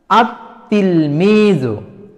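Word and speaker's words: التلميذ: আলিফ লামের যে লাম এই লামটা লেখাতে আসছে কিন্তু উচ্চারণে আসছে না তাহলে এই তিলমিজুনের যেই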